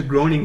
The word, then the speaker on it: Groening: series from Matt Groening I can manage it groaning this is I think the way you say it like all series of